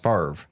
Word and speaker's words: Favre: it Brett Favre makes no sense but it's pronounced Favre that's for all the dyslexics out there yes